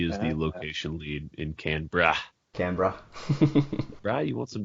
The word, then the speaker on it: Canberra: Are you gonna make me mispronounce it? All right, it was Canberra.